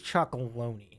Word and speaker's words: Chocolonely: Tony's Chocolonely. Like bologna, but instead of bologna, it's chocolonely.